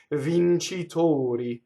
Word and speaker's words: vincitori: Like professor, doctor, victors in this case. Vincitori, closed O.